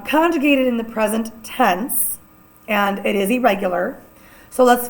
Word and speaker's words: he: Our H's are all silent.